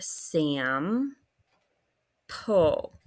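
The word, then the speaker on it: sample: the word Sam pull Sam is a closed syllable because we have the short vowel and pull is a consonant l e but you're going to cross off the silent e at the end like so okay now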